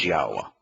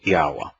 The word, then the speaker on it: Yahweh: or W in uh in Hebrew is pronounced like the English o so it' be yahwa okay um so anyway